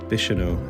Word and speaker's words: Bicheno: time to check on how to actually pronounce where we are. In the seaside village of Bicheno. What is it? Bicheno. Bicheno. So Bicheno, apparently.